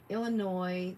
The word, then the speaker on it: Illinois: Illinois, the S is silent.